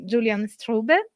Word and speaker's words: Julian Strube: guys our fantastic guests Julian strube am I pronouncing your name right oh yeah perfect I should I should